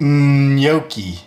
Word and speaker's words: gnocchi: Gnocchi sounds like gnocchi. Got to get that Y sound in there.